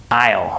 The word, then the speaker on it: I'll: So if you're not expecting that, you're gonna think that I'm saying this word, all, like A-L-L. But no, I'm saying I'll, right?